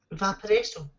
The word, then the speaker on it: Vaporesso: Vaporesso.